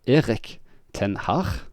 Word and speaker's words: Erik ten Hag: So Erik ten Hag is how it's almost pronounced in the Netherlands, which most British journalists and fan content people say Erik ten Hag, which is not correct pronunciations.